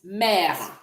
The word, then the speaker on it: mère: Mother is mère. Mère. So the E is also soft. Mère.